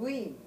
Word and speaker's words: Wien: Oh, because it's a W, but it's pronounced with a B, right?